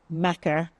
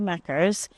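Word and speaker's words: makar: my name is I was a Macker between 2016 and 2021 I love the term Macker it's spelled m a k a r and it's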